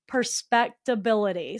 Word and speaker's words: Perspectability: Perspectability. So it's like perspect ability.